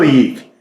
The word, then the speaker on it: Yeak: Let's go Yeak. So like teak.